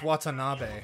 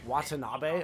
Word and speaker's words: Watanabe: I thought I always thought that's how you pronounce it it's not autonomy it's Watanabe Watanabe oh interesting okay it is definitely a Japanese